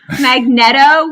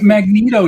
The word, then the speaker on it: Magneto: it is wilsa okay i pronounce it magneto with a short e y magnets magneto he pronounces it magneto